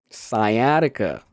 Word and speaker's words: sciatica: Sciatica.